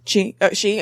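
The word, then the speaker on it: Xi: was eating with President, how do you pronounce X-I? She.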